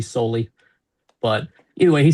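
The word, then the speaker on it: Soehl: I'm not sure if I'm pronouncing his name right, but it's s o e h l e. I believe it's pronounced soul. Could be solely, but anyway, he said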